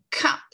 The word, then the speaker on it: cup: Et vous vous souvenez, quand on prononce ce mot-là, on a un « que » sur un mot comme ça qui est accentué. Donc, on a le petit souffle. Si je mettais une feuille, la petite feuille vibrerait devant ma bouche.